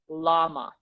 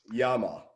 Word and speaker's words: llama: l a m a a lot of english speakers will say llama yeah yama because they don't know that the double l has has a y sound so that's the yama